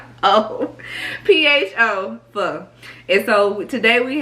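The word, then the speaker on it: phở: And for the pho, and people call it pho. It's not pho. It's not pronounced pho. It's called pho. P-H-O, pho.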